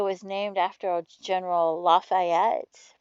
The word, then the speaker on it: Lafayette: the South, and like there's a city called Lafayette. Well, we say Lafayette, but it was named after a General Lafayette, right?